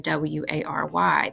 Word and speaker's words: wary: word will be tire there are times when you see a vowel and an R together and they simply do not belong in the same syllable and so they won't make the r sound that you see here in w-a-r-y this would be wary two syllables the other thing we